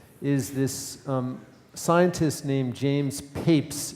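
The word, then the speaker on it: Papez: research on emotion is this scientist named James peeps it's pronounced Papes and he was the first to actually describe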